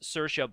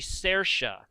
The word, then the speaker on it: Saoirse: common woman's name here in Ireland and it'sit's Saoirse but some depend on your accent it could be Sarah so she kind of like Cersei from Game